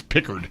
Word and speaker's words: Pickard: I said Picard. It's so hard to not use the Star Wars guys' pronunciation, but it's Pickard.